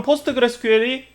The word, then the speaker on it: PostgreSQL: 포스트그레스QL, 코끼리가 한 마리 나왔죠. 일단 이 괴상한 기술 이름을 어떻게 읽느냐, 포스트그레스 SQL이라고 하지 않고 포스트그레스QL이라고 읽습니다. 짧게는 PSQL, 가장 많이 쓰이는 짧은 단어로는 그냥 포스트그레스라고 씁니다.